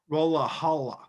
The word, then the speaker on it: Rolihlahla: Rolihlahla. It's like, oh, thank God, Nelson Mandela is here to say, listen, no, it is I, Rolihlahla Mandela. They're like, oh So that is spelled Rolihlahla. no, Rolihlahla Yes.